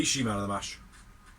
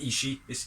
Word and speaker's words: Ishii: the outside side takes out hardy and blade ishii lariat the sheer drop brain buster originally she will butcher my battery i remember the ishima ishii his name is actually i've been told off it's not ishi it's ishii she's toured the world a little bit